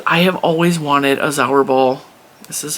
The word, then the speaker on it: Zauberball: of this, because I have always wanted a Zauberball. This is how it's pronounced.